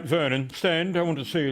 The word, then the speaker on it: Vernon: Your name's Vernon, was it? Rhymes with vermin, how fitting for someone of your position.